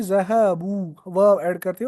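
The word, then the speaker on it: ذهبوا: तब हम कहते हैं ज़हबू, वाव ऐड करते हैं और बा पर दमा देते हैं, और लास्ट पर एक अलिफ ऐड करते हैं जो प्रोनाउंसिएशन में नहीं होता है, खाली ऐड किया जाता है।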